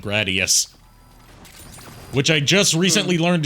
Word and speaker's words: Gradius: around Konami's like shoot 'em up franchises like Gradius. Which I just recently learned is not pronounced Gradius, it's pronounced Gradius.